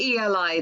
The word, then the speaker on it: Eli: And if I write down how it's spelled, it's ELI. So it's literally Eli. As I say it, Ellie. Yeah, we would call it Ellie.